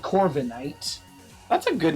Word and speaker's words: Corviknight: Yeah, but a 7 foot tall raven is called Corviknight. That's a good name, actually. I like the name. It's decent. Would you possibly not have seen it? Is it Princess? Corvinite? No, it's Knight.